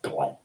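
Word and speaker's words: Glyn: W-I is short for, my Asian name, R for or, G for Glenn, spelled G-L-Y-N, but pronounced Glenn.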